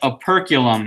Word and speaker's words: operculum: Yep, operculum is how you would say it. Actually, I don't really care how you say it, but it's operculum.